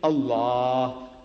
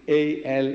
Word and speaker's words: Allah: it'll tell you it's l and also alternatively a l a h Al we are only telling the Christians look spell it as you like but my language I